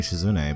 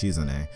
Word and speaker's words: Shizune: I was saying Shizune, but apparently it's Shizune.